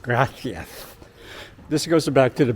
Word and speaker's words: gracias: Anyway, in South America, you say gracias, right? That's what you hear down there. But here, especially in the Catalonia area, that's aka Barcelona area, gracias is pronounced as gracias, with the lisp, gracias.